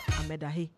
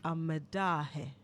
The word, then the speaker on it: Amedahe: You mentioned one of the judges, a judge's name, you said Amedahe, right? You did, right? Justice Amedahe, yes, I mentioned that. The correct pronunciation is Amedahe. Amedahe.